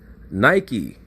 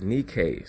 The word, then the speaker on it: Nike: three options bounced around Nike Brothers please understand that the real pronunciation of that word is Nikkei talking about the mother